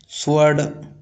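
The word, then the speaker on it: sword: जैसे whole home स्वर्ड इनमें भी डब्ल्यू का उच्चारण नहीं होता।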